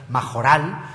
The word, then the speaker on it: Mayoral: He pronunciado mayoral, aunque él dice que en algunos lugares fuera de Barcelona prefieren pronunciar majoral. A mí esto me ha sonado durísimo. Es una j castellana que me cuesta trabajo pronunciar.